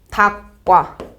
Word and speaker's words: 닭과: 그래서 이거 발음 어떻해요? 닭과 요렇게 발음할 겁니다. 닭과 닭과 왜냐면 얘는 명사니까 명사라는 얘기는 동사가 아닙니다라는 거예요.